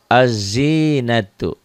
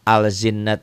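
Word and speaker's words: الزينة: tuh ada tasdidnya ya jadi bacanya dari a ke zai azzina itu jangan alzin al alzin atau l-nya enggak dibaca begituun yang bawah tuh ketemu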